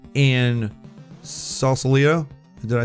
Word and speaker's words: Sausalito: We had in San Fran we had 3 in Sausalito.